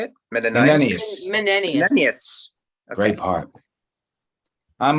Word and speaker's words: Menenius: Menenius.